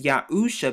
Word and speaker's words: Yahusha: salvation to save and when it comes to pronunciation we know it's yahusha because it has the yard right here the ah or the hey the u the shan which makes the s h sound and then the ayaan